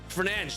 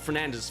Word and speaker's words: Fernandes: Fernandes, that's how you say it. It's not Fernandez.